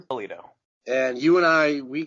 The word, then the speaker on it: Bellitto: so how do you say your last name Pulido and you and I we go back what